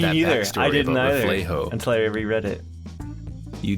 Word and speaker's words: Reflejo: Reflejo, by the way, it is Reflejo and not Reflejo. I was pronouncing it wrong this whole time.